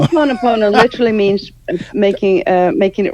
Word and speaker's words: Ho'oponopono: It's the Ho'oponopono. That's it. That's right. Ho'oponopono. Ho'oponopono literally means making it right twice.